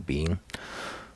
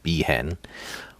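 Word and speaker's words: Biehn: her there's my Michael Bean oh yeah for the longest time I could uh never never knew the pronunciation of his last name I always called him behen which there was a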